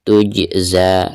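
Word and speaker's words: تُجْزَىٰ: Tuj, perhatikan ada huruf jim sukun ya, sekaligus posisinya ada di tengah-tengah bacaan, maka dihukumi qalqalah sugro ya, dan cara membacanya itu harus dipantulkan dengan suara pantulan yang standar ya, atau yang tipis.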